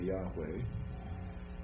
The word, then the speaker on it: Yahweh: pronounced and again the the V now we're pronouncing it in the ancient Hebrew kind of way with a W right so that's why we say Yahweh and so the best